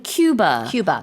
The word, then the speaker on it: Cuba: 이제 우리가 쿠바라고 한국에서 말하지만 외국에서는 Cuba 이렇게 발음을 해요. 그래서 좀 다릅니다.